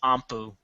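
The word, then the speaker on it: 音符: I think it's pronounced Ampu. But it's also written as Note.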